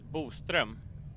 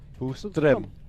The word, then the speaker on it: Boström: The Swedish pronunciation of it is Boström. Boström. Yeah. Okay. It's Everybody almost got like that? It's like the second O actually has 2 dots above it, so we have a